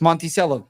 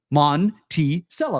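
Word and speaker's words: Monticello: have to say anything no it's Monty C that's how you pronounce the way it's spelt mon T cello all right I'm just gonna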